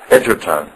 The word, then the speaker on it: Edgerton: How do you pronounce your last name just right? Edgerton.